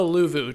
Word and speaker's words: Luvu: This one is the Luvu tribe.